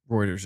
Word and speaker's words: Reuters: and the CMA was like nope yeah Reuters Reuters is how you say it you're saying but